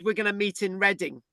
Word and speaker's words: Reading: And I said, I can't find Reading. And she said, Reading's a big place west of London, right? And the penny drop then that Reading, right, is not spelled EREDDING. It's spelled reading.